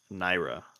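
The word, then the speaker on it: Nyra: The name is Naira. It is spelled N Y R A.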